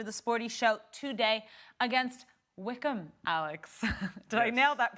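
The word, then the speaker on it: Wycombe: action right after the sporty show today against Wickham Alex did I nail that pronunciation yes it was good it was good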